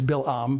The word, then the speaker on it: Balaam: from the old testament balaam balaam or to say it properly as bill um but we're going to